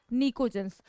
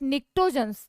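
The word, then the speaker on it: pnictogens: निकोजेंस। और वी can pronounce it निक्टोजेंस।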